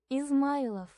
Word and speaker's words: Izmaylov: Why does it sound like, is my love?